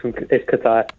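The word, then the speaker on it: Kaitaia: Is that how I pronounce it, James? Yes, Nigel, yes. It's Kataya.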